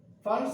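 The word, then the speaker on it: Pfund: Fund series. P fund antaru, but P is silent.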